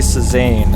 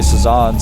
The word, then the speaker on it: Cezanne: if I tried well some people say used to say sane uh and osis was actually one of the first people to do that so a lot of people started calling him szan but then most Korean say saan so I think that's the way it's meant to be pronounced I just can't I